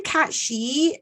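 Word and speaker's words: Cat Sìth: that is the issue so it's called a cat she there it it exists in scotland and ireland okay it's specific to the folklore of scotland and ireland and it's written pronounced i think slightly differently depending on what country you come from but this is specifically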